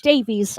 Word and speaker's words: Davies: Did I say Davis or Davies? Davies. I I'm think sorry. you said it right.